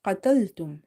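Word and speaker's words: قتلتم: Again, we have qaf, and this qaf is from the heavy letters, so it's quite heavy, or a full mouth letters. So try to pronounce it heavy as much as you can, okay, as if your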